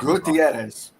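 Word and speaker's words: Guterres: G uh how do I say his name properly without making it get Gutierrez. G I can't say that. Say good ezi.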